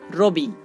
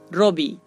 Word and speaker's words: রবি: আর অকারের পরে যদি আমরা হ্রস্বই খুঁজে পাই তাহলে সেই র এর উচ্চারণটা হবে ঔ এর মতো, যেমন রবি রবি।